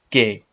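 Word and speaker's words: qué: the chapter when that when you comes after queue and before the vowel e you is always silent so in this word you have to pronounce this word as K okay next word who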